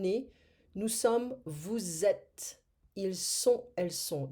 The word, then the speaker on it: ils sont: Ils sont, elles sont. It's a very important pronunciation here. Ils sont, elles sont. Because otherwise, if we don't say that, we're going to have ils ont.